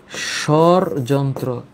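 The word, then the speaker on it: স্বরযন্ত্র: তাইলে এইটার সঠিক উচ্চারণ হচ্ছে সরযন্ত্র।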